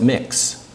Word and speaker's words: Mx: non sexist sexist honorific in its MX so you pronounce it mix and so I would